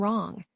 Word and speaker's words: wrong: For instance, in the word W and wrong, the W isn't spoken.